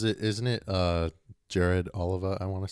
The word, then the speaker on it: Oliva: Yeah, for people trying to correct us, it's Oliver. It's It's spelled the same way as Tony Oliva, but it's pronounced Oliver.